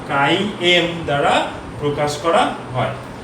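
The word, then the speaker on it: χ: চুম্বক গ্রাহিতাকে আমরা কে বা কাই এম, এটার উচ্চারণ হচ্ছে কাই। হ্যাঁ, এটা উচ্চারণ কাই।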